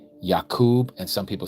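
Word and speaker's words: יעקב: So, it should be Yakub with a B.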